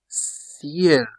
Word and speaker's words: ciel: C before a vowel like E, I, Y. For example, you have café. That is coffee. Café. Café. Ciel. Ciel. Ciel. That's sky.